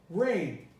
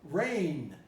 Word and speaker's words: reign: schwa here chasm chasm rain you spelled the g you don't pronounce it rain it's the same as rain the rain falling from from the sky rain far running here's